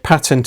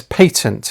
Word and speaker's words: patent: The word patent is more commonly pronounced, at least in other context, as patent in the UK, and many British people consider the pronunciation patent to be an Americanism. In truth, both pronunciations are quite correct.